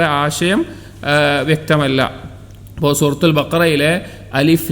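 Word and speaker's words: ألف: അതിൽ അലിഫ് എന്നുള്ളതിൻ്റെ ശബ്ദത്തിൻ്റെ ഉച്ചാരണം വരുന്നത് ഹംസ വരുന്നത് തൊണ്ടയുടെ ഭാഗത്തു നിന്നാണ്.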